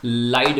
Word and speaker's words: ylide: इसको हम प्यार से लाइड भी कहते हैं। वाई साइलेंट है, YLIDE, लाइट।